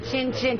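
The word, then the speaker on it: cin cin: Chin chin, chin chin.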